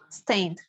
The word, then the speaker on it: stained: Stained. Stained, right? The E doesn't sound, right?